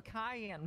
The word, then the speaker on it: cayenne: my my Ramen a can pepper you know oh a cayenne pepper yeah Cayenne K you know there's a second syllable on that sir I just hope you